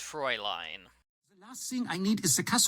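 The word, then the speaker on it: Fräulein: monster frown line and proline zzzz I'm not Doris it's pronounced Froy line nothing I need a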